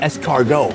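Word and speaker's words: escargot: In France, they're called es cargo. It means snail. I thought it meant something potentially more fancy, but no, it's three syllables to say snail.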